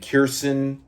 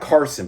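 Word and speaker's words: Kearson: Uh, and throughout the course of this story line, we discover that some dude named Kirstson, not Carson, but Kier. Yeah, it's spelled K E A R S O N. So, it's Kirstson, uh, Dwit.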